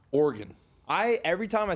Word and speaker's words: Oregon: met some people from Oregon and they get really upset when you call Oregon Oregon so I say it like an organ like an internal organ the same way like